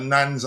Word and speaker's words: Nantes: Is that Nantes? How you pronounce that? Probably the TES is silent. Nantes defender Tylel Tati, but FC Nans have rejected this approach.